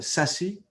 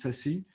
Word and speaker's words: SASE: Secure Access Service Edge, c'est-à-dire SASE. Ça se prononce SASE. Ce n'est pas l'enveloppe auto-adressée. Parce qu'en anglais, ça veut dire Self-Addressed Envelope.